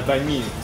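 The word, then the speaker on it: bánh mì: Mais la prononciation banh mi vient de pain de mie en français. Dans les commentaires, vous le saviez ou pas?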